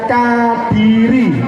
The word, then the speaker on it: Kadiri: Nah ini bacanya Kadiri.